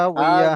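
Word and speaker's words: هاوية: হা বিয়া, হ্যাঁ লাস্টটা হা উচ্চারণ হবে মোটা, হা হাউইয়া।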